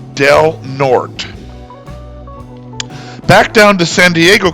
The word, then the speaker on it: Del Norte: But in any case, the name of the county is pronounced Del Norte.